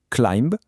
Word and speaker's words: climb: Si un mot se termine par la combinaison MB, alors le B devient muet, on ne prononce que le M, c'est aussi simple que ça.